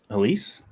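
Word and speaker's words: Elyse: Is that Elise?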